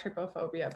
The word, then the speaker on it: trypophobia: It says that it's like the word try, T-R-Y, P-O phobia.